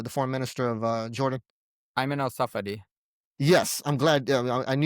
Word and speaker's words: Ayman al-Safadi: Can you pronounce it for us, the the foreign minister of Jordan? Ayman al-Safadi.